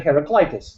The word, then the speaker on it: Heraclitus: And I've been saying it that way until someone said it Heraclitus, the way you're supposed to say it.